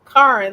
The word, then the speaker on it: Charon: I can't remember if it's pronounced Karen or Charon, however you pronounce it. Karen, that's it.